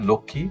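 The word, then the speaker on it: লক্ষ্মী: এবং চিহ্নটা চন্দ্রবিন্দু আকারে এখানে রয়ে গেছে একইভাবে লক্ষী এখানের সাথে মটা উচ্চারণ হয়নি।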